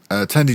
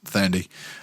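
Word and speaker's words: Thandie: Tandy Newton. No, it's Tandy Fandy. Tandy Fandy. Newton is pronounced Thandy.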